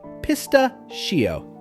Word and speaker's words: pistachio: Begin with piss, then ta, followed by a smooth she, and end with o.